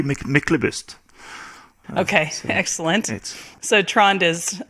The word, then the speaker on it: Myklebust: we started recording to get Michael bust right in English how do you say it in Norwegian usually michelobist okay excellent so trond